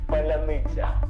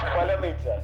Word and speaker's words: Поляниця: ржали з того що росіяни не можуть просто вимовити слово се получится давай Поляниця Поляни Поляниця Поляниця і це дуже швидка ідентифікація свій Чужий